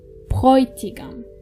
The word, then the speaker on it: Bräutigam: Remember, when you have A umlaut and O together, they are pronounced Oi. Bräutigam.